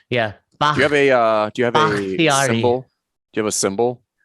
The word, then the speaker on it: Bakhtiari: Bakhtiari. Bakhtiari. Now, Fern. There you go. Like bok choy. Like bok choy. Yes, exactly like the vegetable.